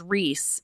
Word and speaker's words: Ries: And then my last name and my boys' last name is Reese, but it's spelled Ries.